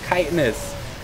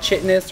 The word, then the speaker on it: chitinous: All of you casters, if any of you are listening to this, it's pronounced chitinous. It's not chitness or shitness or anything else. It's chitinous plating.